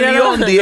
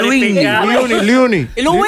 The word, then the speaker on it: Luinny: No, como no, que no, no, no es Leondi, es Luini.